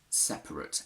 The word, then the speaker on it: separate: i want you to focus on the first schwa the one after we can see that one dictionary gives it fully one put it in brackets and one puts it in superscript why is that since we're lazy we can often remove or elide a schwa inside words and both the option